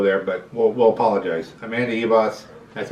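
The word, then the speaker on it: Ribas: Amanda Ibas, that's how you say her name.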